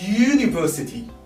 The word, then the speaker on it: university: Because university, if you spell it, it's a consonant sound. University. So as if you are starting with Y.